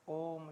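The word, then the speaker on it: ओम्: का उच्चारण करते हैं ओ के आगे जो आप देखते हैं ना तीन सा बना होता है ओ उ और मकार ओम तो कुछ उसको उ बोलते ओ य उ नहीं है यह प्लुत है ओ का दीर्घ उच्चारण होता है व्याकरण शास्त्र में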